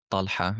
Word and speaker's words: Tala: Tala is an Arabic name. Talha is how it's pronounced.